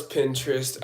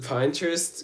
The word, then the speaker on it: Pinterest: I know it's Pinterest. I don't know why I pronounced it Pinterest, because I I don't know why. Ever since I was younger, I saw Pine, but people always tell me it's Pin.